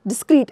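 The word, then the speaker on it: discreet: डिस्क्रीट, इसका pronunciation बिल्कुल same है बट स्पेलिंग में बहुत डिफरेंस, ठीक है।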